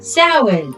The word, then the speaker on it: Samhain: Samhain. Oh, is that how you say it? That's how you say it. Listen, we can mock because we said it wrong for years. Samhain.